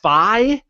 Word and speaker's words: Fi: Goron and fee who apparently her name is pronounced Phi from Skyward Sword which you never played so